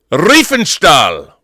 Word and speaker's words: Riefenstahl: But anyway, One more time, Rob. Riefenstahl. You got it. Lenny Riefenstahl. You got it.